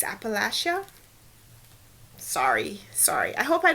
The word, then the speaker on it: Appalachia: to pronounce it so I've always called it Appalachia but it's Appalachia sorry sorry I hope